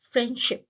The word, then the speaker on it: friendship: Consonants के case में internally friendship, जिसमें डी साइलेंट हो जाता है.